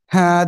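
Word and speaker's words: ه: এই যে অক্ষরটা, এই অক্ষরের নাম হলো সিম্পল হা। হা, সবাই একসাথে জোরে জোরে উচ্চারণ করেন তো।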